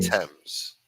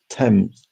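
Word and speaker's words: Thames: Tems. But that's that's how it's pronounced. Tems. So, I just think T E M Z.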